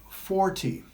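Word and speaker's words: forty: If the stress goes on the second syllable, it is 14. If it goes on the first syllable, it is 40.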